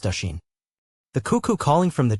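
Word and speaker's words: Oisín: said fin turning to oen pronounced Asen the cuckoo calling from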